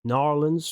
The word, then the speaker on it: New Orleans: Here in Belgium, we would say Orléans. I've heard it's called New Orleans, Narlands from the locals.